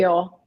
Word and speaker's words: SANIL: Uh, I'll spell it out. Now, I think how many people say no? A lot. It's Okay. Sunil.